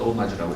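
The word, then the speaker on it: hommage: 이제 이거는 존경한다는 뜻인데 일단 불어기 때문에 H로 시작하는데 오마주라고 읽습니다.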